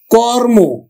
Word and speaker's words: কর্ম: ধর্ম কর্ম কর্ম আমরা উচ্চারণ করব কিন্তু কর থেমে যাচ্ছে তারপরে ওটা ও এর মত উচ্চারিত হচ্ছে কর্ম এখন দেখো প